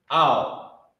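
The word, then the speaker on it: אל: The character ah and the character la connected, owl. That's how it's pronounced, owl, A-H-L.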